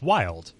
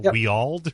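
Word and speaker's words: Wyald: I was like, okay, how are we going to pronounce his name? I was like, oh, it's Wild. Literally, that's just how it's said. I was, like, saying Weald or whatever.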